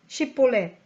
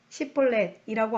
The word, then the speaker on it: 쉽볼렛: 라고 물어보아 그가 아니오 하고 대답하면 그에게 쉽볼렛 하고 발음해보라고 했어요. 에브라임 사람들이 제대로 발음을 내지 못하여 십볼렛이라고 하면 그를 붙잡아 요단 나루터에서 죽였어요.